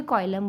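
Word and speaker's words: coelom: Okay, nature of Seelam मतलब क्या होता है, कोई कॉइलम बोलता है, कोई सीलम बोलता है, डिफरेंट प्रोनाउंसिएशन है इसके।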